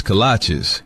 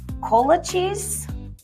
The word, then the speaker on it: kolache: What's a colache? Oh, cola cheese? Colache? Kolaches? Kolache? Like the shoes? No, that can't be right. It's kolache, but it don't matter what